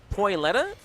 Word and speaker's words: Toilette: Toilette?